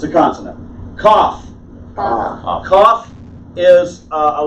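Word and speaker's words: כ: Kaf. Kaf is a letter that has two sounds. A beged kafat letter, and we'll get to that in 5 minutes. Okay? For now, just say Kaf as in king.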